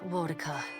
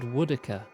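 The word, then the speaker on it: Woedica: The goddess Wodika strides forward. Wait, now it's Wodika? Everyone in the first game said Woodica. The pronunciations have all changed.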